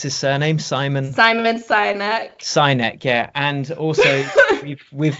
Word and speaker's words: Sinek: I have seen it, but how do you pronounce his surname? Simon Sinek.